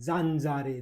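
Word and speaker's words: zanzare: ए एन इसको बोलेंगे, जेड ए को जा, एन को बोलेंगे न, जान, जेड ए जा, आर ई का रे, जानजारे, जानजारे बोलते हैं इटली में मच्छर को।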